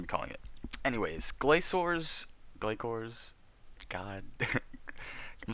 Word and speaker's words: Glacor: me through this video if I keep pronouncing it wrong as in gayor because I keep saying gayor I'm hearing like it's glacor and and all these other weird pronunciations so not weird pronunciations